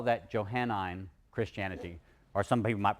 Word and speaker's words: Johannine: And we're going to call that Johannine Christianity or some people might pronounce it Johannine Christianity.